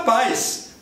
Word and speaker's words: paz: Se você enxergar um Z escrito em posição final, que é o caso de paz, você manda paz. Paz. Paz. e acaba com S.